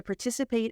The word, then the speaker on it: participate: invite industry experts to participate in panel discussions at our annual conference okay for the pronunciation it's not par but per per it's smaller so if you say partip it's too too big so look in a